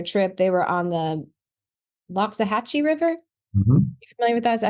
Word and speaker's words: Loxahatchee: hours into their trip, they were on the Loxahatchee River. Is that? How you say it? John Darr: Yep. Loxahatchee, yep.